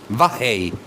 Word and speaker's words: Vav Hei: La pronunciación es Ya, por un lado, y por otro lado, Vahei.